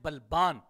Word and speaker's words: بلبان: جو لقب ہے ابن بلبان، اس کا جو تلفظ ہے وہ کیا ہے؟ با کے اوپر فتحہ ہے، بفتح البا وسکون اللام، با کے اوپر فتحہ ہے اور لام ساکن ہے، پھر اس کے بعد